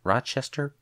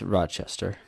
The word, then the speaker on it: Rochester: and Ro Rock rocker Rochester Rock how am I how am I never able to pronounce the city's name right it's Rochester Rochester there we go New York where the